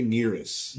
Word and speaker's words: NERIS: What do you say? NRIS? How do you say it? I say NERIS.